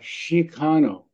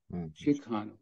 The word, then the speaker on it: Chicano: people think that it's it's a variation of Mexicano but perhaps renounced with a kind of indigenous pronunciation so that comes out Chicano Chicano so the term chigano